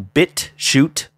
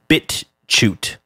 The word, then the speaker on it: BitChute: But if you want to hear it, you can go to BitChute, BitChute, and I believe it's pronounced BitChute, not BitchUte.